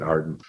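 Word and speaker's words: AREDN: formed a group called arden a-r-e-d-n pronounce it arden and they developed new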